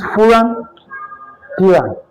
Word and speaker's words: pyran: So this is pyran, exactly, or pyran, whichever way you pronounce it.